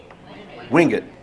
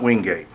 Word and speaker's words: Wingate: But it's not, the town is pronounced Monroe. And then also in Union County, Wingate, not Wingate.